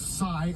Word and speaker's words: Sai: He is identified as, we believe his name is pronounced Sai, S-A-I is the first name, Sai Varshith Kandula, 19 years old, from Chesterfield, Missouri.